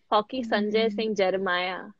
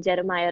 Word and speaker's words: Jemimah: shoot your question jeremiah yes that's how you pronounce my name jeremiah guys all